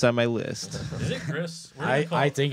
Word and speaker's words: Gris: Is it Gris? I think it's Gris. I don't know. It's GRIS for those of you listening. I don't know what the hell. It's Gree, man. The S is silent.